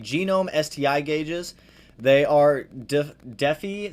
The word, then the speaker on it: Defi: They are Defi. Some people pronounce it Defi, Defy, whatever you want to call it.